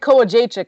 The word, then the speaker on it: Kołodziejczyk: I think he might have mentioned Greg Greg Kołodziejczyk. I can actually Yes.